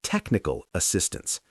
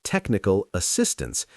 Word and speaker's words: technical assistance: For these compound nouns, the main stress falls on the first word. So it's a development program. It's technical assistance. If you stress the second word, like technical assistance, you sound a bit like you're still learning. But if you hit that first word with confidence, you sound like a leader.